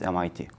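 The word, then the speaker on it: MİT: We call it in Turkey MIT, literally MIT, pronounced as MIT. The director of the MIT, Hakan Fidan, a former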